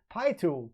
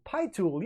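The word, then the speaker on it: PiTool: I believe it's pronounced P-Tool, not P-Tool. Pi-Tool. Pi-Tool, yeah.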